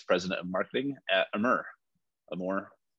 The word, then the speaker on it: Amur: yeah so we're just going to go into a more but let's dive into that yeah well thank